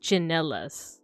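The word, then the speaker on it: tsinelas: But yeah, so this one's interesting because there are words with the ch sound, but they're spelled with a TS. So we have a word chinelas.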